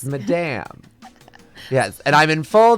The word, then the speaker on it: Madame: Madam or Madame? It's, how do I say it? My name is Madame. Oh my gosh. It's Madame.